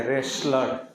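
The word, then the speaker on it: wrestler: टी L ration ration और यहां इसको पढ़ेंगे रेसलर डब्लू आर ई एस टी एल ई आर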